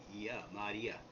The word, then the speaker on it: Maria: Okay, so Maria, there's like Ma, which means master, right? Or Lord, okay? The Y is an E, like a double E, and then A, okay? So Maria, okay?